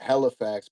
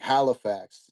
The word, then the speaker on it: Halifax: Hellifax, they say like hell, like H E L L Hellifax. But I I feel like people who aren't from here will be like Halifax more with the A sounding. But yeah. Okay. Yeah, I definitely announce annunciate the A in Halifax.